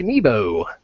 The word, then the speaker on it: Nebo: Nebo. I did pronounce that. Yeah, you right? pronounced it correctly. Okay. Long E. Long E.